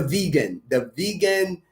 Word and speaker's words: Vigan: And then the vegan longanisa, not vegan like vegetable, but vegan is a city in the Philippines. It's spelled Vigan.